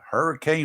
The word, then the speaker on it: Hurricane: Hurricane Yep, West it's- by God, Virginia. It's spelled hurricane, but they call it hurricane.